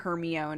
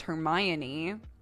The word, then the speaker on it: Hermione: eyeballs and be like it's not herion actually it's Hermione and you're like well